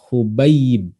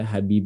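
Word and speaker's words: حُبَيب: muah ya aulahuma maftuhatun Jadi dibacanya adalah Eh hubayib ya hubayib hubaibin Eh kemudian lanjutnya adalah Eh ini hadis dari minqi hubayibin ya jadi jangan dibaca habib ya salah harus bidomil ha almuhmalah Kemudian tasdid pada yang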